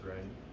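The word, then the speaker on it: 忍: What's the, is it the same pronunciation in Chinese? In Chinese, it's ren.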